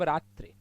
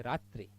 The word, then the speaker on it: रात्रि: अब रात्रि, उच्चारण सही करना है, मात्रा मानी उच्चारण में लगने वाला समय। रात्रि, हानि है, दीर्घ उच्चारण करना ही नहीं।